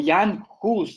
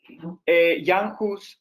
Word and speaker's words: Jan Hus: de hechos y anjos o jan hus más bien porque en chaco si se pronuncia la u jan hus él nace en 1369